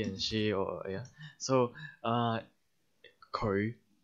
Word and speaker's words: 佢: So it's like 佢. Like that. 佢. We don't say 佢, not like that. 佢. 佢. So fifth tone 佢, low rising 佢.